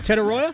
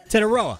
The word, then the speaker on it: Tetairoa: I don't know how to pronounce his first name. Tetairoa? Tetairoa.